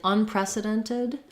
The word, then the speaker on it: unprecedented: like um weighted this Ted is going to sound like the word did because this T will be a flap and then we have to add a syllable so when a word ends with t-e-d or d-e-d it tends to be a did sound like weighted um in unprecedented we're either gonna do tid unprecedented um with the same if